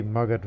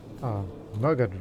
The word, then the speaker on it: Magadha: That's the Magadha region, this area here. I've heard some people pronounce it as Magadha, but I've heard in Hindi or Bengali or Bihari language pronunciations of this area is Magadha, even though it's originally